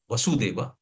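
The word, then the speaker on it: वासुदेव: So, in the pronunciation, sometimes we get confused. So there are two words, Vasudeva and Vasudeva. So Vasudeva is husband of Devaki Mataji, and Vasudeva is Krishna.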